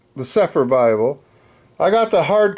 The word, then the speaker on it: Cepher: But if just for short, it's the Sepher Bible.